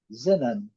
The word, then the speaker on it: xenon: A segunda palavra, nós falamos xenon, eles falam zinan. Zinan. Zenan. Zenan. Eu creio que seja isso mesmo. Zenan. Nós colocamos a sílaba tônica na última e eles colocam aqui na primeira.